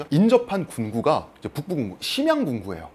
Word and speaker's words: 선양: 군구 이제 북부 군구 심양 군구 그래요 어 중국 발음으로 선양 군구 중국은 인구도 많고